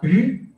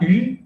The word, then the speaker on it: eu: el pasado de avoir, se pronuncia como si la E no existiera, es decir, U, U. ¿Ok? Nicolas a eu la grande idée.